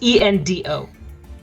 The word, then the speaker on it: Endo: It's ENDO. Endo. Oh, it's D-O. I'm Like sorry. I thought it was Invo.